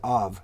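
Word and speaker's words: אב: The Hebrew word for father is av. It's spelled aleph, bet, or in this case, it's pronounced vet. All right, that's av.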